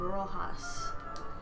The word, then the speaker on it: Roxas: Do you know any people named Roxas? No. In the Philippines, we pronounce that name Rojas.